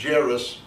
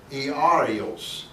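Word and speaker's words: Ἰάϊρος: Now, the English is Jairus. Actually, it's pronounced Iarios. Iarios in Hebrew. Or Greek, Greek.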